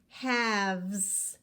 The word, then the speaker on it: halves: we have two halves again the L is silent halves do you see the